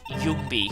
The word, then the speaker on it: Yungi: And yes, actually, it is pronounced Yungi.